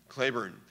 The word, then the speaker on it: Cleburne: and spelled the same that's how he pronounced his name Claybourne probably the best division